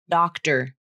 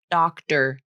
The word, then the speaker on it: doctor: And for some native speakers, the flap also occurs in the word doctor, doctor, der, der. That T is sometimes pronounced like a flap.